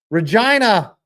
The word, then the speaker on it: Regina: doesn't end up damaging Regina, the city that rhymes with fun.